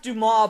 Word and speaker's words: Dumas: And it starts off with this guy named Baron Dumbass's office. Yes, it's pronounced Dumas, but it's spelled like dumbass.